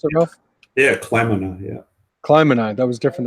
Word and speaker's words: kleinmanni: Isn't there's not an N in there? Yeah, there's an N in there. Kleinmanni. But I've never heard the N pronounced.